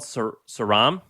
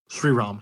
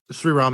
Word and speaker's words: Sriram: Is it called Saram? Sriram. Yeah. Sriram is his name.